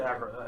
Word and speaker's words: Akra: So Just say Akra. I was saying Akra, but Okay. like Ocarina.